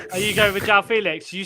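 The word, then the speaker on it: Félix: though and you know we're all actually pronouncing uh Joe Felix's name wrong it's Felix yeah that's the first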